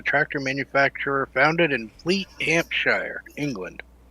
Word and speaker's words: Hampshire: There's no I. You don't pronounce the I. When there's an am, it's generally a like Birmingham, not Birmingham.